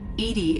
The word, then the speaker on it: EDI: EDI is the phonetic pronunciation of EDI.